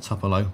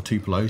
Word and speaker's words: Tupelo: know poor old Mississippi in a topolo or Tupelo depending how you say it to his time